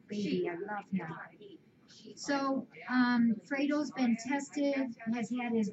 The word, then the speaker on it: Fredo: It's spelled Fred O, but it's pronounced Fredo.